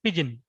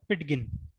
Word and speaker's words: pidgin: इट is pronounced as पिजिन, नॉट पिटगिन, एज फार as women are concern.